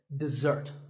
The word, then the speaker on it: dessert: word this is dessert notice that the first syllable is dead and the second starts with a Z sound we stress the second syllable dessert this word refers to something